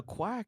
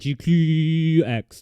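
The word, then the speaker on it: GQuuuuuuX: But why is it a quack, though? No, no, no. I like to say it GQX.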